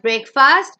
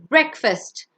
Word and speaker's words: breakfast: It's not breakfast, it's breakfast.